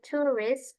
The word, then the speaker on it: tourist: And then for this one tadi cara bacanya adalah tourist. Jadi O-nya enggak terlalu tebal ya bacanya.